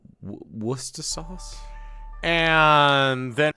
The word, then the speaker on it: Worcester: Worcester sauce. W wor sauce.